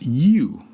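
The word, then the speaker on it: 鱼: Fish in Mandarin is yu, Y-U. This is the same pronunciation as leftovers or leftover.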